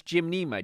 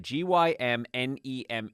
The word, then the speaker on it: Gymnema: It's Gymnema, Gymnema. So Gym, like working out the gym, Gymnema.